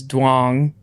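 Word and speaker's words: Dong: share this but um her last name is dang okay it's it's pronounced y but it's spelled like d o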